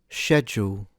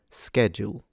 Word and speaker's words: schedule: word, and in fact this is the way that it's normally pronounced in the UK. However, this is a characteristic of British English. In America, you'll hear it pronounced schedule, schedule.